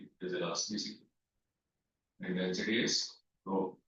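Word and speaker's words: rho: So row is where heat is elasticity is elasticity and density is row it's called row R this is how it is pronounced big letter row it represents density okay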